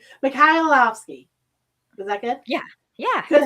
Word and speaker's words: Mikhailovsky: Mikhailovsky. Okay. No, skip the K and just pronounce the H and you'll get it.